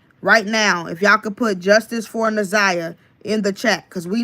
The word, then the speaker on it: Naziyah: Naziyah is spelled Naziyah. Again, it's Naziyah.